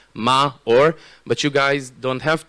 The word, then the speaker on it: Maor: the way the way the way that you pronounce my name is ma or but you guys don't